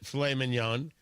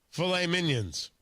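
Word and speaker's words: filet mignon: But he doesn't pronounce it filet minion. He pronounces it filet minions.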